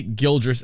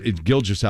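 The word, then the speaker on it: Gilgeous: did you say it how did you say gildras Alexander there's no R in there Shay gilgis Alexander giljas Alexander there's no R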